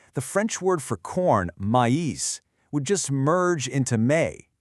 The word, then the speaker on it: maïs: French word for corn, maïs, would just merge into may, which honestly just sounds like the French word for butt or the English month of May. The trema forces us to say maïs.